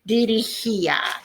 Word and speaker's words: dirigía: Dirigía is what we're going for there. Dirigía, accent on the I.